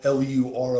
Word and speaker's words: Lur: the country that's that says Lors or L L U R O S. They're lur is how you pronounce it.